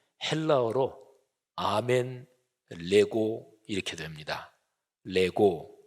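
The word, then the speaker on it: λέγω: 아멘 레고 이렇게 됩니다 레고 이거는 헬라어로 내가 말한다 이런 동사입니다 뭐 애들 장난감 을 내고 하고 발음이 어떻게 똑같아서 재미있는데요 그런데 그 앞에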